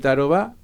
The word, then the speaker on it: Tarobá: ¿Cómo se soluciona en Tarobá? Que me encanta con el acento en la A, porque es así, es ¿no? una palabra guaraní.